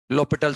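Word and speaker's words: L'Hôpital: rule लिख लो आप एलस पिटल rule लो पिटल rule ए silent होता है इसमें ना लो पिटल रूल बोलते हैं इसको ना तो ठीक है हॉस्पिटल भी बोल दो चाहो तो ना तो अच्छा लगता है सुनने में बाकी करेक्ट प्रस य इसका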